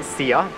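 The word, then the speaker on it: szia: So you say see ya. See ya? See ya. Yeah, it's kind of similar like see you. Okay. But it's see ya. All right, well, see ya, Istvan.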